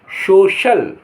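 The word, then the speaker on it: social: L cruel माने क्रूर कभी-कभी सी के बाद आई ए या ई ए हो तो श श की ध्वनि देते हैं श श की ध्वनि देते हैं सी के बाद क्या आया आई ए या ई ए आई तो श हो जाता है जैसे एस ओ सी आई ए एल सोशल सोशल सोशल माने सामाजिक ओ सीई ए N ocean ocean माने समुद्र एम यू एस आई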